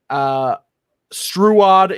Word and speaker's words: Struod: pronounce it like trout, but with a S. Yes. Okay, Struod.